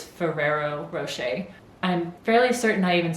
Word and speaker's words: Ferrero Rocher: always say it wrong i always want to call it fiero roche but i'm pretty sure it's ferrero rocher i'm fairly certain i